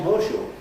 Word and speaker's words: horseshoe: assimilation, and a word like horseshoe, for instance, will become horseshoe. And that esh that you had made out of the S that ended the word horse, for the moment you're saying horseshoe, you're pronouncing what corresponds to the letter S in the spelling of the word horse, you're pronouncing it as a sh, horse.